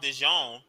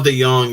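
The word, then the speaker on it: DeJong: uh Cardinals infield or Paul Dijon yeah pronounce that right Paul De Young Yeah Yeah from the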